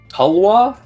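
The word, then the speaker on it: tulwar: uh authentic uh Indian I believe it is pronounced uh talwa probably butchering that t-u-l-w-a-r seems to be a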